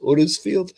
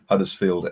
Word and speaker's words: Huddersfield: Huddersfield?